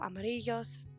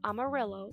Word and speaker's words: amarillo: Another little tip is a double L, two L's right next to each other, will be pronounced like a Y. So it's not amarillo, it will be amarillo or amarilla.